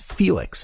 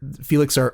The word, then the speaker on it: Fiilex: by a company called felix and felix is spelt somewhat odd it's f-i-i-l-e-x and in the interest